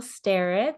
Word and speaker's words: Starratt: All right, so my name is Starratt. Thank you, Cody, for the pronunciation.